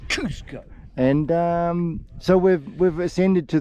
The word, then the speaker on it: Kosciuszko: You've got to pronounce Kosciuszko to get the Polish inflection. Kosciuszko.